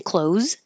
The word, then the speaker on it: clothes: I got new clothes and close the door sound the same.